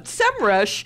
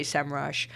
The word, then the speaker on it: Semrush: but i'm gonna talk about a competitor um semrush had this big thing about how do you pronounce our name and we've been through this